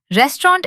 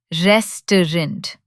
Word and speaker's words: restaurant: Restaurant is tricky because of the silent letters. It's restaurant, not restaurant like it looks.